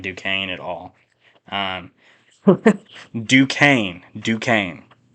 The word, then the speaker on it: Duquesne: De Queens. Oh man, DeQuez. I don't know. They're the Dukes. I think that's their mascot name. Actually, I'm gonna look up how to pronounce this. We're gonna look up how to pronounce it during the podcast. Just stick with me here. Duquesne. That's how you pronounce it.